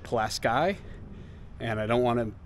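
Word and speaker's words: Pulaski: the other thing is I think I said palaski New York that's because here in New York we have the palaski bridge well if you're from up there you pronounce it plasy and I don't want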